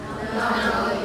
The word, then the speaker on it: monopoly: Monopoly. Yeah, on the second syllable, monopoly. Monopoly.